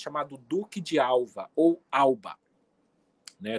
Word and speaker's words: Alba: Duque de Alva ou Alba né Tem uma questão aí do V e do B na língua espanhola que são pronunciados com o som de B ficou o Duque de